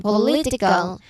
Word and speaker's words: political: Political. Okay. The stress is centered in the middle, not at the start or end.